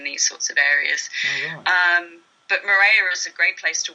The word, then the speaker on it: Moorea: And your most recent project's been in, I'm going to pronounce it wrong, is it Moorea? Moorea, that's pretty close.